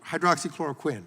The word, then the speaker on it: hydroxychloroquine: an example of the hydroxychloroquine, I hope I pronounced that correctly, Close enough. As one of those examples. Tell me the right pronunciation? Hydroxychloroquine, but okay. you're very close.